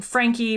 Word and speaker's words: Franke: my name is frankie and it's spelled well people think it's frank because it's f-r-a-n-k-e it's german it was francais but then